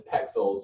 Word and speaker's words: Pexels: So I just said it wrong. I said pixels and it's pexels.